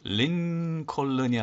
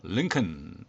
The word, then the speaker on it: Lincoln: 그 다음 것은 lincoln이 아니고 lincoln.